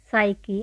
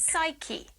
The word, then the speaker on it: psyche: G is silent. No. Nor nor. Second. Psyche. I know that. Psyche.